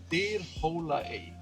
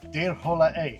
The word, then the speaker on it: Dyrhólaey: be on my video telling me how it's pronounced. I'll have to ask our driver in a little bit. The island is Dyrhólaey. Dyrhólaey.